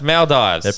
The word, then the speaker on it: Maldives: mes I don't know it's Maldives pronounce it how it's spelled soorry like just don't